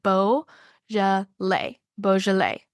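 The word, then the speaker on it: Beaujolais: look for some balet it is spelled like be Au u j o l a i s it does not look anything like how it's said it's said Bo boal and so that would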